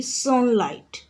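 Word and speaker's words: sunlight: सेपरि सनलाइट सनलाइट रे पिला माने देख एस यू एन एल आई टी उच्चारण होउछि जी एच उइह रहि जाउछि साइलेंट रहि जाउछि तो एठी हला जी एच तुमरो साइलेंट लेटर।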